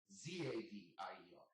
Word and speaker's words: Xavier: That's where Xavier comes from, because it's spelled with an X, but it's pronounced with a Z. Xavier, Zavier.